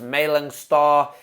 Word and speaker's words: Malang Sarr: I think his name is pronounced Malang Sarr.